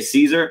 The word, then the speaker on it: Szczur: something about the pronunciation just say it's caesar like the emperor so i've always kind